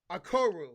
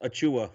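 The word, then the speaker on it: Achiuwa: We got Precious Akoru. Is that how you say his last name? No, not at all. It's Precious Achua. Achua. Jesus Christ. What was I saying? I got Achua going here, the forward center from Memphis.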